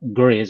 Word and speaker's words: Gries: Tom Gries. I think that's how they say it. Gries, Tom Gries. I've heard people say Tom it Gries. Yeah, various ways.